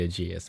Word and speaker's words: Aegis: But will it be Aegis or Aegeus though for you? I mean, like you're gonna have to it has to be Aegeus because that's how Chris pronounces it.